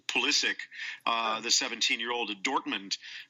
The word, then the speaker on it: Pulisic: like a I don't just learned this the way he pronounces it is Pulisic, uh the 17-year-old at Dortmund.